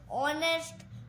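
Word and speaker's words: honest: तो गाइ आपका एच लेकिन गा अगर साइलेंट है जैसे कि ऑनेस्ट नेस्ट नेस्ट नहीं बोलते गा इसको हम बोलते हैं एन ऑनेस्ट मैन एंड आवर एटस आदि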